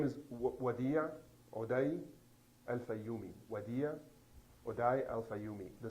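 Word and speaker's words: Wadea Odai Al-Fayoume: Can you pronounce the boy's full name? His full name is Wadia Odai Al-Fayoumi. Wadia Odai Al-Fayoumi.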